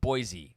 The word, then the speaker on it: Boise: about boys voices it's it's boy c isn't it no oh that's not it is it with a z boise all right pronounced boise according to boise yes boys e